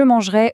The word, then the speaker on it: mangerai: Quand on dit je mangerai au futur, le son et se prononce comme un e fermé.